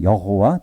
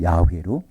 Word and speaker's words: 야훼: 그 이름이 예흐예는 1인칭이고 그것이 3인칭이 되면 바로 여호와 또는 야훼로 발음이 되는 것입니다.